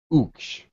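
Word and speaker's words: Ooksh: I would say O-O-K-S-H. Uksh. That's the pronunciation.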